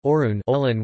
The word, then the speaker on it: 옳은: In Korean, the word for right is orun, olian, to be compared to the word meaning morally proper, orun, olan, which shares the same pronunciation.